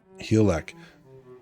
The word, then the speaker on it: Hygelac: No, there's no G. Hygelac.